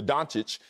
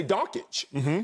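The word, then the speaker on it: Dončić: him his proper due i still mess up luca dantic because every i used to say donkeys people dantic i'll give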